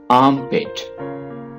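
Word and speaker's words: armpit: आर्मपिट, आर्म, इसको आप आर्म नहीं पढ़ेंगे, आर्मपिट, बगल। यहां पे आप समझ लें कि आर साइलेंट है।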